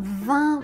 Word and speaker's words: vin: Bonjour, vous avez choisi pour moi le vent blanc.